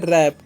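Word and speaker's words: wrap: तो इसे हम लोग बोलते हैं रैप। यहां पर डब्ल्यू साइलेंट होता है।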